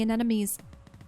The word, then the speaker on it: anemone: We found Captain Cruz in the anemones. Did I Yeah, you did.